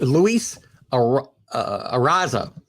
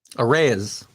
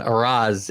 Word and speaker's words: Arraez: Luis Arraza. Nah, there's no N at the end of that. Arraez. How about that? We'll try that.